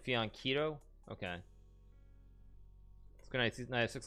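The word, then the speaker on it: fianchetto: Fianchito is pronounced with a K sound, like Fianchito.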